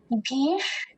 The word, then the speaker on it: भीष्: इसमें हम ध्यान देंगे कि जो मूर्धन्य शकार है उसका उच्चारण हम तालव्य शकार से थोड़ा अलग करें। भीष, इसका उच्चारण हम मूर्धा से करेंगे।